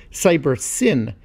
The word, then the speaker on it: Cybersyn: support of the government collectively the system was termed cyber sign or perhaps more accurately should be pronounced cyber sin as it stood for cybernetic synthesis in this case the